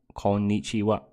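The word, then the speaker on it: こんにちは: corn eats you up konichiwa it's got a double n in it so you have to pronounce the the mmm sound so gon need you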